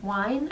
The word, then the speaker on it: Wein: Another one that I just was so crazy about, I finally read Codename Verity by Elizabeth Wein, I guess is how you say her last name.